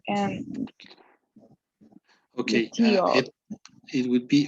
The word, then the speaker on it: luteal: the faces, the pronunciation of the faces, follicular and Okay, luteal.